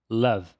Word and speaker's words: love: Portanto, a pronúncia correta dessa palavra é love. Love. Mas geralmente os brasileiros acabam colocando um i no final dessa palavra, resultando em love.